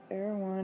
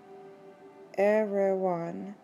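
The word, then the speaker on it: Erewhon: look here we go the author wishes it to be understood that era one is pronounced as a word of three syllables all short thus everyone everyone all right there we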